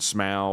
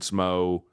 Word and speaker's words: Smough: All these bosses, no one knows how to pronounce their name. Ornstein and Smough, Ornstein and Smo.